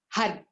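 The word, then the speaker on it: Har: spelled H a are we make the sound by the tongue quite strong on the upper palate just behind the teeth hi hi hi so our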